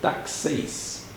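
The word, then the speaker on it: τάξεις: Tem até a pronúncia aí, ó, é grego, pronuncia-se taxeis. De ordines.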